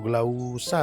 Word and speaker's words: glauca: jenis secara umum, yaitu Ficus glauca atau glausa bacanya ya.